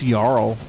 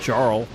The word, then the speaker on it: Jarl: And I know it's pronounced Yarl, not Jarl, but Carl.